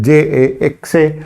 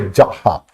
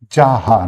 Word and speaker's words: JAXA: Now the Japanese agency is called as JAXA, J-A-X-A, which is pronounced as Jaha. It's pronounced as a Jaha, not called as a JAXA.